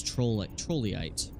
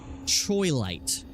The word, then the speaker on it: Troilite: Trollite. I always say it wrong. Troilite.